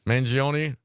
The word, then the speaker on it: Mangione: How do you pronounce his last name? Mangione.